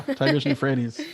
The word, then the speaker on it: Tigris and Euphrates: Did I pronounce that right? Yeah, Tigris and Euphrates.